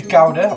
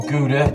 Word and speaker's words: Gouda: I always use Gouda or Gouda, depending on how you pronounce it and where you're from in the country, and mozzarella.